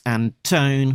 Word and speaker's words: Antone: Grosso, letterer Pat Brosseau, editor Alex Antone, rhymes with phone assistant editor Caitlin Chappell.